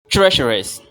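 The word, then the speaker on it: treacherous: wind theer swind swindler try to say it in this way treasurous treasurous treasurous treasurous we have three sounds sh sh rest sh try it first hear carefully and then try it to say in the same way TR sh AER AER AER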